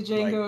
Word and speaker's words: Django: With the Django. Like, damn. Yeah, that Django. The D is silent.